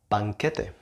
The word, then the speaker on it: banquete: Feast, banquete, banquete, banquete. This might be a bit hard for you if you see this word. The spelling of this word might be a bit confusing, but it's banquete, banquete.